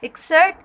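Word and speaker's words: excerpt: एक्सर्ट, इसको हम एक्सर्ट pronounce करते हैं, पी जो है इसमें साइलेंट है।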